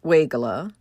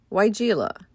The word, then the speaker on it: Weigela: Some pronounce it Weigela, others say Weigela.